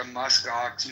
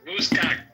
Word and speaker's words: muskox: And I'm going to start a muskox milking business. Oh, Is God. your CEO? Once America takes over Greenland, me and Andrew are going to partner up. But you would pronounce it Muskox. You said Muskok.